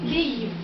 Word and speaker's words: Kyiv: Kiev s'appelle en russe, on prononce Kiev. Donc comme toutes les cartes en Union soviétique étaient en russe, ils ont gardé le nom Kiev. Mais en ukrainien, ça doit se prononcer Kyiv.